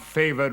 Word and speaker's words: favoured: Disguise fair nature with hard favoured rage. A favoured is 2 syllables.